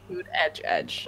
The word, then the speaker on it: Buttigieg: It's pronounced boot edge edge. Oh, boot edge edge. What? Yeah, that's how he gives you as a hint, a mnemonic. Okay. Like a boot and an edge and then an edge.